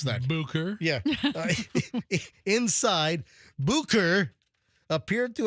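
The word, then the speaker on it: Bucur: pried the door open, they discovered 40-year-old Benjamin Bukur. B-U-C-U-R. How do you pronounce that? Bukur.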